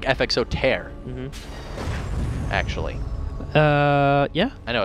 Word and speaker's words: Tier: And he was like, I mean tear, like rip. And so he did that. He goes, well, it's pronounced tear.